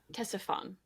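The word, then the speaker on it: Ctesiphon: Oh yeah. Tessifon. Tessifon. Okay. Yeah. The the sneaky C. The silent C.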